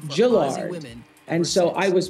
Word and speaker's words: Gillard: it can be pronounced Gillard. And so I was playing a mind game with myself, Gill and Lard, to make sure I didn't say Gillard instead of Gillard.